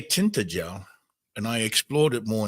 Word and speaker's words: Tintagel: Tintagel, Tintayel, because G in the old way is pronounced as an H or a Y.